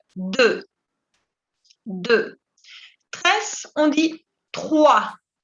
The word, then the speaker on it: trois: Tres, on dit trois. Trois. Y tampoco se pronuncia la S, ¿ok? La S muda. Trois. Recuerden que la OI siempre se pronuncia wa.